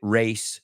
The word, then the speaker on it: race: film this famous chariot race sequence? Race, ya sabéis pronunciarlo, que no se pronuncia como raise.